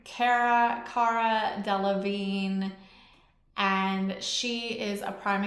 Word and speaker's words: Cara Delevingne: Cara Delevingne.